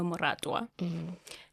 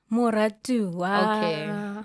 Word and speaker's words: Moratoa: And just as she was about to lock the name in, my dad is like, no, we're going to name her Moratoa.